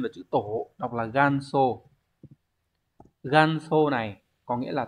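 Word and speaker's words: 元祖: Hán tự là chữ Nguyên và chữ Tổ đọc là ganso ganso này có nghĩa là tổ sư cha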